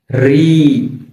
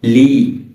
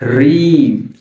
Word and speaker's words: ঋ: অনেকে এটা কে বলে লি না লি বলা যাবে না এর সঠিক উচ্চারণ হচ্ছে ঋ ঋ যখন আমরা এই বর্ণটা উচ্চারণ করবো আমাদের জিহ্বার আগাটা একটু কেঁপে কেঁপে উঠবে।